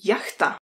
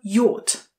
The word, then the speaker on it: yacht: Jak byste řekli jachta? Píše se hodně podobně, ale pozor na výslovnost. A yacht. A yacht. Není to jacht, ale je to a yacht.